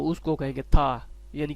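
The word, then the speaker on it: 他: ये टी है, ये ता लिखा हुआ ना, ये इसको प्रोनाउंसिएट करते हैं था, क्योंकि चाइनीज टी को जो है था थी पढ़ते हैं, इस तरह समझ ले, था।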